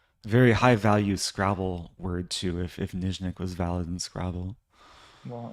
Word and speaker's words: Nyzhnyk: Nyzhnyk. NYZH The ZH sound is what throws everyone off. And that's a zh sound.